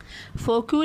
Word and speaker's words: Foucault: फौकॉल्ट questions the traditional history, अच्छा इसको कहेंगे मिशेल फोकू, स्पेलिंग याद करने के लिए आप फोकाल्ट कर लें, बोलने के लिए फ्रेंच था तो फोकू, ठीक है, मिशेल फोकू।